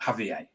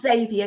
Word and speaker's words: Xavier: book which is about Javier yeah Z story that you actually pronounced Xavier Tim sorry Xavier sorry and